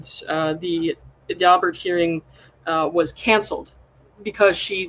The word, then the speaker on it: Daubert: And they also had How do you pronounce this? Is it Is it um Daubert Daubert Yeah, Daubert.